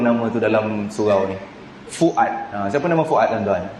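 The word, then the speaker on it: فؤاد: bukan sengau tak sengau Fuad Fuad f u a d tu ejaannya Fa wau Hamzah Alif Dal Fuad bukan Fuad bukan Fuad ya jangan kita ainkan huruf yang bukan Ain Fuad makna Apa jiwa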